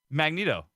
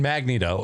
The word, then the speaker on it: Magneto: Magneto. Yeah, now Like you're that? saying it right. But before you were saying Magneto.